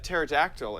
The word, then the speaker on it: pterodactyl: can't you hear a pterodactyl in the bathroom Okay so the p is silent that's funny it's pretty